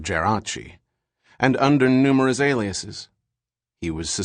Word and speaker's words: Geraci: him for acceding to the American pronunciation of his name, Geraci instead of Geraci, and under numerous aliases.